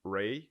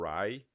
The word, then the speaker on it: Rye: Que ele na verdade, é um whisky Ray, né? Ray, que é o whisky de Centeio, né? O Rye, aí depende da pronúncia.